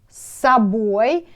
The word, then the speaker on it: собой: But when you pronounce this word, you should say собой, а, instead of say O.